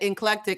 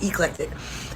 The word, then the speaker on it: eclectic: He said inclectic.